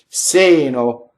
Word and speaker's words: seno: Seno, single N. That's the one we want for this. Sɛmpre, we've done.